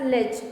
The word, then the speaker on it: ledge: In the spelling of ledge, D will be silent. We will pronounce it as ledge, window ledge.